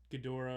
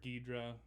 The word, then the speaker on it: Ghidorah: Ghidorah or Ghidra, as I later found out is pronounced.